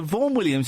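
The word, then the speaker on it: Vaughan Williams: what what did you say how do you spell it uh so VOR Williams is VA a u g h a n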